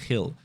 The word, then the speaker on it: Gil: Now, that Jill is still something that I'm going to be working towards, or I should say Gil, right? He's Spanish. He probably is pronounced Carl Gil.